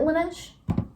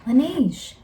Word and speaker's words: Laneige: gonna bother me now lunch is it one-ish lineage Laneige so I like using